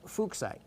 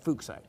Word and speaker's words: fuchsite: The actual pronunciation of the person's name it was named after makes it pronounced as fuchsite. Like fuchsite.